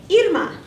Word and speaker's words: Irma: can't roll my RS you don't need to roll your ARS to say Irma my father-in-law remembered the pronunciation of My Name by thinking of ear muffs it's fine if you want to call me ear muff although Spanish has